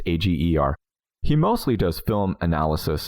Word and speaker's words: Ager: I think it's pronounced Egger or Auger. It's Ager.